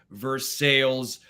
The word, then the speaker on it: Versailles: goes It's pronounced Versailles we here in the United States we don't call it Perry we call it Paris so it's pronounced Versailles